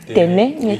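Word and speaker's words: Tênê: Téné s'écrit T-E, accent circonflexe, Téné. N-E, accent circonflexe. Donc, Téné. ça fait Téné.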